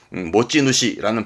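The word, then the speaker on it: 持ち主: 모찌누시라는 발음도 자주 쓰여집니다.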